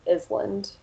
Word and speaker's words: island: But especially for lower level learners, they want to pronounce every letter they see. So you might hear them say Kno or Island.